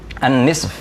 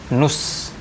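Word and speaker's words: نصف: Nah, setengah itu bahasa Arabnya an-nisf. An-nisf itu artinya setengah, ya. Kadang orang Arab bilangnya enteng aja, nus, ya, dari kata nisf, tapi diucapkan nus. Nus, jadi seolah-olah hanya nun dan sod saja, nus.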